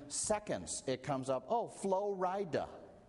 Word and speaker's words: Flo Rida: And in seconds, it comes up, oh, Flo Rida. Which is spelled like Florida, only you split it in two, and then you sound real cool.